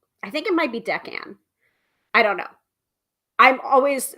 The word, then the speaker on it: decan: So Sophia's saying decan. Decan. Okay. So I think I was saying it correctly. Hopefully. Anyway, when you know better, you do better, right? So decan wheel.